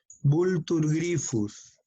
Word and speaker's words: Vultur gryphus: Nombre científico, el Vultur gryphus, PH pronúncialo como F. Vultur gryphus.